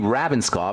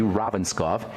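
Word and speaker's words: Ravnskov: Ufi Ravenskov, who's written some amazing books about the stupidity of the cholesterol hypothesis.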